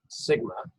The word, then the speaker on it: sigma: mention that here that symbol is lowercase that's pronounced sigma so sigma squared is population variance and then